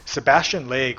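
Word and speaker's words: Sebastian Lague: want platformer specific stuff Sebastian leg which I think how you pronounce the name s e b a s t i o n l a g u e has one of the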